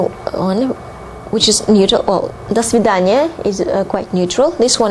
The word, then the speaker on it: до свидания: Now, saying goodbye in Russian would be до свидания. До свидания. До свидания. Although there are two words, here you pronounce it as one word.